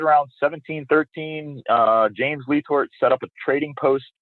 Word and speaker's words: LeTort: slit Ohio tying uh these Lort Hoppers and I know now after talking to you that it's actually leor and that's the correct way to say it correct that's right my man lee Tor okay and he would